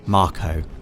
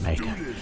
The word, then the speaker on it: Mako: is a Mako reactor Dave officially pronounced Marco right but I've always I've would pronounced it maker officially it is Marco doe and you can